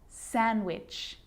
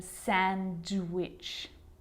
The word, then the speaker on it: sandwich: silent too Wednesday handsome sandwich so I'm not pronouncing the D in Sandwich I'm just pronouncing the consonant n sound before it try it with me